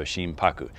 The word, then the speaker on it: Shimpaku: characters for it so to break down the two characters you have shin and haku which becomes paku when you combine it together so shim paku now sheen translates essentially